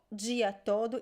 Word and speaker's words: todo: that is correct so it's a very weak oo sound like as the word todo todo is written but i